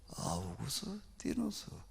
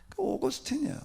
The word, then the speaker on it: 아우구스티누스: 아우구스티누스. 오거스틴이야. 오거스틴의 라틴어식 발음인데 내가 왜 이 사람 이름도 들어본 적도 없는데 이름이 왜 튀어나왔나 의문이었습니다.